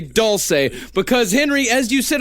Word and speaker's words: Dulce: Doulce is technically the proper pronunciation of doulce bass.